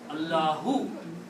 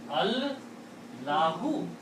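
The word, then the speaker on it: الله: So don't pronounce this alif here. And now what is it? What is left here? Allahu. Allahu.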